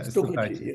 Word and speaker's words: stukachi: Stukachi, is that how you pronounce it? Yeah, Stukachi.